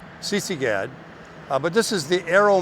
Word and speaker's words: Sisigad: CC GAD.